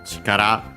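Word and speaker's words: 力: Yeah, comes from chikara, on its own accent on the last syllable.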